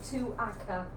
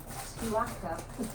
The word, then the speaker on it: Tuaca: Oh, Tuaca. That's how you say it. Tuaca.